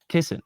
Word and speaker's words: Kisin: proposed to First of all, it's Constantine Kissen. Imagine that though. You're on you're on someone's podcast and you don't even know their name. That's just cringe. Kissing.